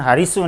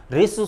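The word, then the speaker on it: ह्रस्व: इसी प्रकार है के नीचे री लगी तो इसको बोला जाता है हरिसु बोल देते हैं, जबकि इसका सही उच्चारण हरिसु नहीं, इसको सही उच्चारण है इसका रिसु स्वर।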